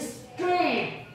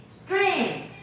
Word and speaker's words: stream: R 就要念 D R，转转转转，所以变成 drain stream，所以是 stream， repeat stream， Zophie repeat， everybody repeat， Zophie I want to